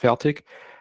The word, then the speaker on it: Fertig: is my last name my last name is obviously german it's pronounced feltic and you can translate